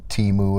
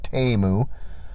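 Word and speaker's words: Temu: items sorry TAMU uh Super Bowl commercial taught me that teu is not the way to pronounce it it's TAMU um so got some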